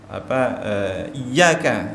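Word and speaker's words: إياك: Atau misalkan iyyaka ya, tasydid tetapi kemudian dia membacanya seakan-akan kehilangan tasydid, iyyaka na'budu wa iyyaka nasta'in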